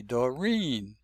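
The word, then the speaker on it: Doreen: We don't say Dorine, we say Dorine. Stress is on the second syllable, the second vowel.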